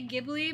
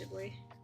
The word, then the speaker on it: Ghibli: Some people say Giblly, but I think it's actually pronounced Ghibli.